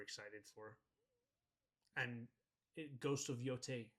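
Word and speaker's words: Yōtei: that you're super excited for, and Ghost of Yote. It's the first one I have on the list. That comes out. I don't know if I'm pronouncing that right. Ghost of Yote.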